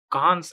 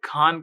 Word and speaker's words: Kahn: यहां पर हम एक नए प्रकार की एल्गोरिदम जिसको कान एल्गोरिदम कहते हैं, मैं खान कहता हूं पता नहीं क्यों, पर कान ऐसा कुछ कहते हैं, ठीक है।